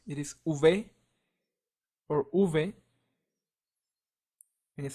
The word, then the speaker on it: uve: v w and X larvy in Spanish sounds like uve another way that this letter is pronounced is uve so in Spain it is pronounced uve and in most Latin American countries it is pronounced uve so both are correct and it sounds similar to the one in lava so an example will be